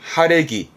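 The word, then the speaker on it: 晴れ着: 맑아진 그래서 그 맑은 날 입고 나가는 그래서 발음은 하레기 하레기 평상시에는 평상복이 아니라 날이 맑아져 놀러 나갈테니까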